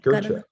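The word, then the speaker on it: Gøtzsche: Peter Gotcha is like Gotcha.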